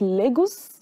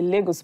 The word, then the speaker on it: Lagos: going to Nigeria visit Lagos that's what you people say Lagos but it's the corrent pronunciation is Lagos so yeah if you